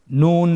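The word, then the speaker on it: نُ: পরবর্তী হরফ নুন, হরকত সহকারে উচ্চারণ করুন এবং আমার সাথে বলুন নুন জবর না, নুন জের নি, নানি। আবার বলুন নানি, নুন পেশ নু, নানি নু।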